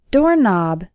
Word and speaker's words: doorknob: called ringing the doorbell door knob the K in doorknob is silent doormat if you describe